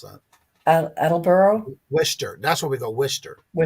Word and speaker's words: Worcester: She says she's near I can't even pronounce that. Attleboro? Worcester.